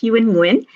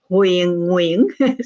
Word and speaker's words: Huyen Nguyen: it if I say in Vietnamese, it would be Huyen Nguyen.